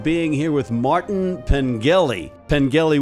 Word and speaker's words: Pengelly: Pengelly with a hard G.